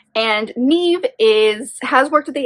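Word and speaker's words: Niamh: name wrong it's uh-n-i-a-m-h but she's Irish so it's pronounced Neve and Neve is has worked at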